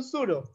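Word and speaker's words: pseudo: marker দিয়ে mark করেন, সুডো, এটার উচ্চারণ কিন্তু সুডো, সুডো মানে হচ্ছে ছদ্ম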